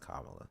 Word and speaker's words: Kamala: hate to be liberal here it's it's it's pronounced Kamala that's that's her name name is not Kamala